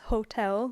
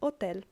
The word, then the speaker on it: hotel: it is not pronounced Hotel like in English because the H is always silent and so we have Hotel lotel which is the